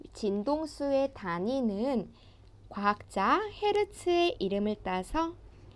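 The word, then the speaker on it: Hz: 이 진동수의 단위는 과학자 헤르츠의 이름을 따서 H 대문자 그리고 Z의 소문자로 쓰고 그리고 헤르츠라고 읽습니다.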